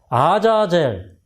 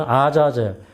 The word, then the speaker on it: 아자젤: 그래서 아자젤 이게 우리 이제 번역으로는 아사살이라고 번역을 했던 원래 원어적인 번역은 아자젤.